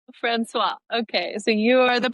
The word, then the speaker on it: François: François. François.